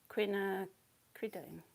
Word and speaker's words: quinacridone: I want some more quinacridone. I can't find my colours. There we go. That one. Quinacridone. Yeah, I am saying it right.